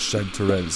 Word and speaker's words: chanterelle: It's nice getting those chanterelles. Now I don't know if I'm saying that right, but I'm pretty sure it's pronounced chanterelle. But please correct me if I'm wrong in the comments.